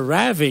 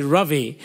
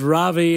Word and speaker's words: Ravi: Canadians, for some reason, ever since I've been here, like to go as a Ravi, you know, which is really not right. What is it? Yeah, it's technically Ravi. It rhymes with lovey and dovey, okay.